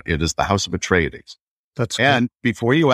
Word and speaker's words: Atreides: You nailed it on the first try. It is Atreides.